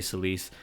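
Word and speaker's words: Celes: I've always pronounced it Celis. I've heard some people say Cis.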